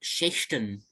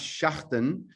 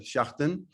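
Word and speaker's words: Schächten: And from Austria, I noticed a film called Schechten, a Retribution. Yeah. So so it's pronounced Schachten.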